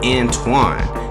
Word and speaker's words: Antawn: in Shreveport Louisiana and his parents named him Antoine spelled a-n-t-w-a-n but the hospital misspelled it Anton on his birth certificate the error was never corrected but the pronunciation did not change he had a strong